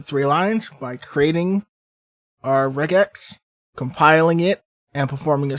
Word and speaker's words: regex: with something called uh regex i've also heard it pronounced as regex but regex makes more sense to me considering it stands for regular expressions now a regular expression